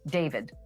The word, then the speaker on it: D4vd: were David Anthony Burke, better known as David, spelled with the number 4.